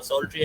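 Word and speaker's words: psaltery: Uh, So, when Ghulam Ali Khan Sahab introduced the Surmandal, the auto harp, it's known as the Psaltry, Psaltry, the P is silent.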